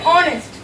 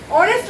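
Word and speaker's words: honest: বসাবো যেহেতু কনসোনেন্টে ভুলবে এ বসে কিন্তু এখানে অনেস্ট অনেস্ট উচ্চারণ করতে প্রথম সাউন্ডটা ভাওয়েল ও এর আসে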